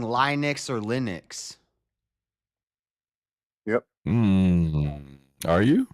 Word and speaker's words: Linux: Just because you learn to pronounce something in some way doesn't mean it's correct. Regardless, that's not what's in Linux is not question.